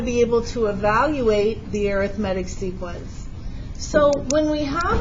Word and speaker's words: arithmetic: word you probably think arithmetic but we only call it arithmetic when it's a noun when it's an adjective